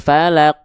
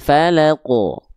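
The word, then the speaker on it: الفلق: Contoh, qul auzubir qul auzubirabbil falaq. Nah, itu enggak boleh. Tapi dipantulkan. Qul auzubirabbil falaq. Nah, pantulkan ya.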